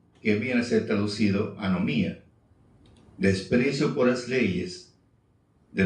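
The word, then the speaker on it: ἀνομία: anomía ese abía abía ese abías escribe se pronuncia anomía qué viene a ser el desprecio por las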